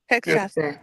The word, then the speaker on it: Hegseth: Hegseth, yeah.